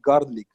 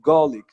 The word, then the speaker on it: garlic: If you want to even pronounce it the American way, you have to say garlic. garlic, garlic, garlic, not garlic, garlic. That's the American way. Garlic. The R will be out, but not completely out.